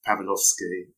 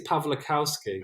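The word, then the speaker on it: Pawlikowski: made with Ron Howard, Pavlovsky. Is that the correct pronunciation? I think it's Pavlikowski.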